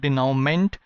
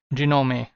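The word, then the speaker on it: dénouement: say what this word is this word is dinome okay this is not denoment it is genome okay what does this word mean they know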